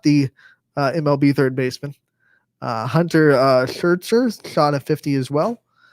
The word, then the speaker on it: Scherzer: It's not Scherzer, it's Schertzer with the T, so I couldn't.